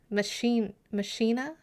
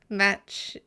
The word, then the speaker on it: machina: It's machina. Mokina. Tomato, as they say. Makina. Makina. I'm getting a lot of different. Makina. Someone put an emphasis somewhere, please. First syllable accent. Machina. Like Deus Ex I don't know what that is.